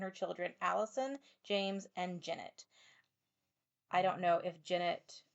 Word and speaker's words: Jennet: And so the guy on the documentary pronounced it Jennet, so I'm pronouncing it Janet, but I think it's like Janette.